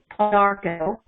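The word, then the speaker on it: Pau d'arco: But I also used to drink, when I was recovering from my cancer, Paudarco tea, and that's spelled P-A-U, capital D, apostrophe A-R-C-O. So it's Paudarco.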